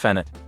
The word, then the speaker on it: penat: The Geras call it penat, pronounced fanat.